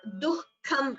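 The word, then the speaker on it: दुःखम्: This word dukkham, I have told you before also, the visarga should be heard.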